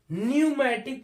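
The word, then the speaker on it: pneumatic: नहीं पढ़ते ऐसे ही पी एन ई यू एम ए टी आई सी इसको हम न्यूमेटिक पढ़ते हैं यहां भी पी क्या होता है सालन हो जाता है ऐसे ही पी एसई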